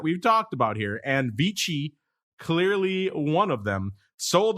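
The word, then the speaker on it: VICI: this is a newcomer this is american it'd be vc if it's italian it'd be peachy properties v-i-c-i ticker symbol vichy v-i-c i'm going to pronounce it the italian way because why not vichy properties this is a reit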